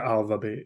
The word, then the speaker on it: ALVABEAT: Is that how you pronounce it? Yeah, ALVABEAT.